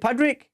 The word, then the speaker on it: Pádraig: Pádraig, did I pronounce that correctly? Is it Pádraig?